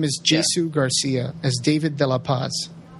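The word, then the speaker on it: Jsu Garcia: spelled j s u yeah his name is Jesu Garcia as David de La Paz so I still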